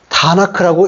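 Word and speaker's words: Tanakh: 너는 나 기억은 이것을 이제 다나크라고 읽어 히브리 사람들은 성경 그러면 탄압하라는 탄압거는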